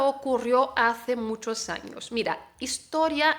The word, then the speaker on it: ocurrió: Ocurrió, no es ocurrió, ocurrió, es ocurrió. La sílaba fuerte ahí es la O final, entonces ocurrió, ¿vale?